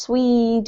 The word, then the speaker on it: Swede: you Anna so this this particular country name in English is has a long e sound pronounced Swede and Swedish okay hurry to Sweden